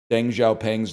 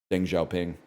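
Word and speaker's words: Deng Xiaoping: And I was like, I pronounced Deng Xiao Pang's name wrong. And like all the other kids in the class, I say other kids as if I was a kid. I was the teacher. All the kids in the class laughed at me. And I was like, "Why are you laughing?" And they're like, "It's pronounced Dinggha Ping."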